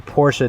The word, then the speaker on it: Porsche: I gotta say Porsche now because that's the correct pronunciation. When I didn't have a Porsche, I would just say Porsche. It's the ghetto way that rolls off the tongue, just Porsche. It just sounds cooler.